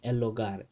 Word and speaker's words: hogar: ogar so el ogar instead of saying elogar as in the not like in the standard spanish which should probably be elogar but that h is silent and it is always silent in spanish okay it never makes